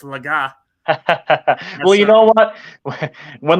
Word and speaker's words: Legas: up here and and launched the podcast saying Cooper Legas so it's laga well you know what